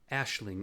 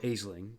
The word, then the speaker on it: Aisling: on in the league getting aisling or aisling depends on your pronunciation into high tier research